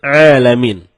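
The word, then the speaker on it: ٱلْعَالَمِين: jauh berbeda begitu juga terkadang kita malas mencapai huruf Ain jadinya ketika kita membaca Alhamdulillahirobbil alamin malah dibaca alamin alamin menggunakan huruf Ain Ain artinya semesta alam nah kalau alamin artinya sakit kalau kita baca dari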